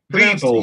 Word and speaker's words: Viborg: part of the world the opposition is pronounced people yes i was thinking i was thinking beef means something what what what's he talking about beef of course you're talking